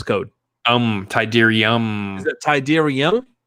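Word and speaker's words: Tydirium: what's your access code um tyderium is that tyderium it's the m yes oh how do you spell that t-y-d-e-r-i-u-m huh well thank you for clarifying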